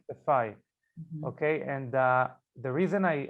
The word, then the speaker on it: Saffaie: Saffaie. Saffaie.